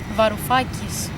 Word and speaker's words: Varoufakis: How do you pronounce his name? Varoufakis.